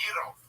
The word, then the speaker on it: gyro: Why don't you go make me a gyro, Giannis? Okay. Whoa. That's over the line. Toothpaste. That's racist. I'm half Turkish. I did my DNA. I'm a rape baby. So. And it's pronounced Euro.